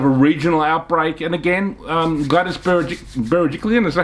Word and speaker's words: Berejiklian: And again, Gladys Berejiklian, is that how you pronounce her name?